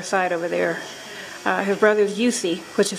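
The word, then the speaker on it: Jussi: His brother's Yusi, which is spelled J-U-S-S-I.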